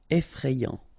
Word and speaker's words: effrayant: Effrayant. Final T not pronounced. Effrayant.